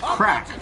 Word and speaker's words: craic: they'll still be a gold saucer day absolutely pronounced crack okay thanks what you teach you at work